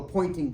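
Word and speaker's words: Poynting: Y N T I so it sounds like pointing but it's the guy's name right and the pointing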